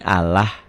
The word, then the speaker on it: Allah: Lafaz Allah dibaca tarkik. Ingat kik tipis berbunyi Allah.